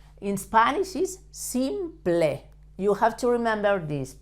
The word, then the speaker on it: simple: El presente simple, you have to pronounce the P, L, E, like ple, not like in English that is pol or sample. In Spanish is simple.